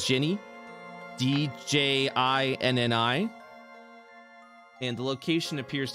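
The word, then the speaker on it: Djinni: Yeah, that's how you pronounce it.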